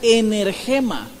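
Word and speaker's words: ἐνέργημα: escrita en griego originalmente que se pronuncia emerge ma en el tema qué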